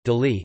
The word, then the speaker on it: Delhi: Delhi, Hindustani pronunciation, Delhi, Delhi, officially the National Capital